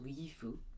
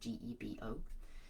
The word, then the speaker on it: Gebo: The G sound is a soft sound, so it can sound as sort of a Gifu, and the B can be almost like a V sound, so Gifu is the way some people pronounce it, and the Anglo-Saxon people spell it Gifu.